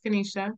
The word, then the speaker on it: Kaneshi: an I I did the I is pronounced as an a Kenisha we like to keep